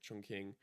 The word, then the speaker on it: Chongqing: And after Xinjiang, actually, we ended up going to Chongqing, or I think it's pronounced like Chongqing, in the south, and that is like the party capital of China.